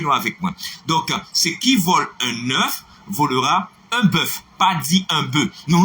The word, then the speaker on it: qui vole un œuf volera un bœuf: Non, ne le répétez pas parce que ce n'est pas la bonne prononciation, ce n'est pas la bonne phonétique. C'est qui vole un œuf volera un bœuf. Est-ce que nous là?